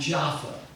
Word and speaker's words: Jaffa: Pronounced both Joppa and Jaffa. In fact, it's pronounced three ways. Joppa, Jaffa, and Jaffa. They pronounce it all three ways in Israel.